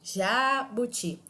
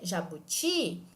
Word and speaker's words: jabuti: jabuti mais uma vez eu não digo jabuti tampouco jabuti fica estranho essa pronúncia mas se eu disser jabuti eu consigo manter uma pronúncia adequada mesmo arrastando essa letra portanto nessa palavra a